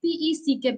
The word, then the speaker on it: peck: Generally, people would pronounce it as peak. It is not peak, it is peck. The moment we get this word E, I mean this letter E in between of the word, it sounds as E, peck.